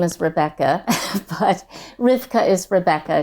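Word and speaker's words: רבקה: name is Rebecca but rivka is Rebecca it's just the Hebrew pronunciation of it but I think Rebecca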